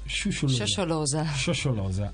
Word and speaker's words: Shosholoza: Prima con Rossella, lei mi ha corretto più volte sulla pronuncia, facendo benissimo. Cerco di ripetere. Sciosciolosa.